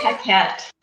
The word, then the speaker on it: Paquette: Paquette. I did it. Yay! Welcome to the show, Miss Paquette.